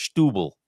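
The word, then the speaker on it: Setúbal: And the Portuguese people in the bar on Saturday seemed pretty certain that the correct pronunciation of Satub was stubble.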